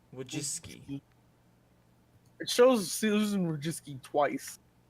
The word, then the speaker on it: Wojcicki: Susan Well, I can't pronounce her. Wojcicki. Wojcicki.